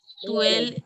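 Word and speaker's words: toilette: Toilet. O-I, wherever you see O-I, it is pronounced as ue.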